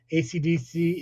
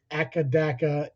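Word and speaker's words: AC/DC: ACDC is pronounced one letter at a time, though the band are colloquially known as Akadaka in Australia.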